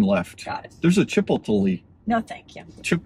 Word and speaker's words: Chipotle: There's a Chipotle. No, thank you. How do you say that? Chipotle.